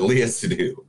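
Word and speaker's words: Léa Seydoux: this movie is I'll pronounce it for me, Lea Seydoux. Seydoux, thank you. I thought I was gonna say Seydoux, I know I was going to, but Lea Seydoux.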